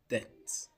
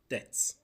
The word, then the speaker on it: debt: This is pronounced debt, debt. B silent.